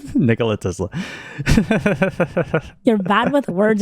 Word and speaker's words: Nikola: You sounded like it's a woman's name, Nicola. Nikola Tesla.